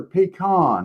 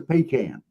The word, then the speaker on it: pecan: Is it pecan or pean? That's another one. Uh we had that discussion the other night. They asked us how we pronounced. I said it sounds like that can that you pee in. It's a pecan.